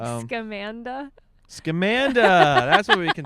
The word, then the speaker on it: Scamanda: You won't shut the fuck up about Scamanda. Scamanda. Is it Scamanda? That's how you pronounce it? Scam Amanda? Scamanda? It's a really stupid name. Yeah, the podcast series and the documentary is called Scamanda.